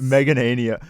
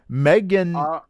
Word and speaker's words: Meganium: Meganania. How do you say that one? Meganium.